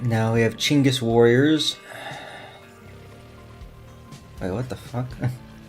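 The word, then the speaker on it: Chinggis: If you're unaware, by the way, Chingis, this is like a phonetic spelling of Genis. That's how you're supposed to pronounce the guy's name, Chingis.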